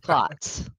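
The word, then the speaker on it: Klotz: Roger clots clots I didn't remember how you pronounced his last name Roger M clots that's it okay I have a question real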